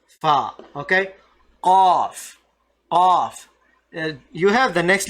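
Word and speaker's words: قاف: Qaf. You have the next letter kaf, right? Ka. Just try to bring this sound just a little bit deeper than ka.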